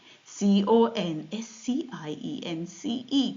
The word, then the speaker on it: conscience: C O N S C I E N C E. Conscience. It sounds like consigns. At least it doesn't sound like consigns. It's spelled like consigns, but it's pronounced conscience.